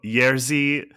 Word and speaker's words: Jerzy: pronounced like a Y. Oh, Yerzi Skolamowski.